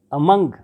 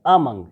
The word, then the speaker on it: among: Among, not among, it's among. The stress will be on the second syllable.